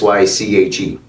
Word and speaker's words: Syke: So Psych is spelled Psyche, right? Short for psychedelic. And I took Psych, S-Y-K-E, just like how you would say, psych, I got you.